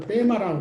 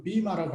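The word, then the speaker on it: βῆμα: 그 베마, 이 재판석, 발음이 길어서 베마, 이 요새 발음으로는 비마라고 하더구만. 그리스 사람들은 옛날 발음으로는 베마가 지금도 있어요.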